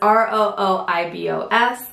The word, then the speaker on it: rooibos: it pronounced out loud so it's ROI vos and this is what